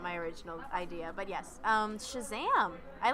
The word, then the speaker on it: Shazam: original idea but yes Shazam I like you gotta say you have to say it like that because the kind of exclamation point it's similar to